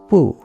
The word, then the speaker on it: 惡: The most controversial character in these two passages is or wu. That's one character read with two different pronunciations. According to the translation above, it's wu in passage 4.3, and it's in passage 4.4.